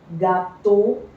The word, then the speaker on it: gâteau: EAU is pronounced as O. So this is oison. OI is wa. Boisson, beau, gâteau, bureau.